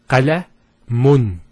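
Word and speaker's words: قلمٌ: If we put two dhammas, it will be pronounced as qalamun. Qalamun. So notice the noon sound at the end.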